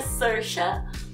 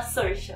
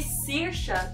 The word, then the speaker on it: Saoirse: O nome dela se pronuncia Saoirse, mas eu sei disso porque uma amiga canadense explicou, porque esses nomes irlandeses sempre alguém tem que me ensinar, porque sim, é totalmente pouco intuitivo, mas fala Saoirse.